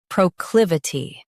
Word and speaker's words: proclivity: Today we will learn how to pronounce the word shown on the screen. Proclivity.